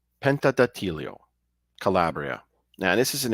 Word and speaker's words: Pentedattilo: the haunted town of pentad Deo Penta oh I'm sorry let me pronounce it right Penta datio Penta datio Calabria now this is